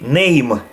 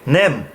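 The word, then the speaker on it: Mem: eleven head twelve oats some of these is going to be hard because ashkenazim added sound for example an 11 they would pronounce as hate hate we say het in 13 they would say name we say nem 14 red 15 net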